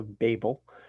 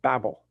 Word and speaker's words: Babel: Some will say Babel. I pronounce it Babel.